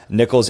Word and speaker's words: Nichols: help them spell it it's spelled ni i h o LS nickels and dimes dimes with a z